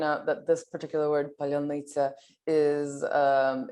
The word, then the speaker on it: паляниця: It's also important to point out that this particular word, palyonnytsa, is it's a word that the occupier cannot pronounce, and so it's used as sort of